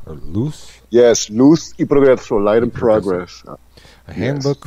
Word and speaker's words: Luz y Progreso: Yes, Luz y Progreso, Light and Progress.